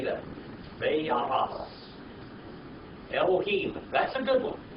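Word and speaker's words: וַיַּעַשׂ: But we're just going to use the modern Hebrew pronunciation, too. I don't want to totally confuse you, okay? I just want you to know it's there. All right. Veya'as.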